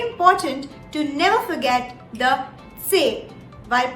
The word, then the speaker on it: C: book all right then c in german is pronounced as say say if you pay very close attention to the pronunciation there is a slight short t in the beginning of the pronunciation which is very essential to sound more german all right so it's very